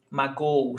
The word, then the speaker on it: magoo: Magoo, 3 syllables, no accent mark.